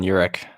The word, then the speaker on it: Uhrich: What's the correct pronunciation of your name, by the way? You're spot on, Uhrick.